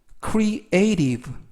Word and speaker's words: creative: 뜻이 되겠습니다 이번 단어는 creative creative crea이 발음에 유의하실 것은 중간에 있는 발음이 발음이 연음에 의해서 트 발음이 안 나고요 르 트 발음이 아닌 르 발음이납니다 그래서 브라고 발음하시면 되겠고요 품사는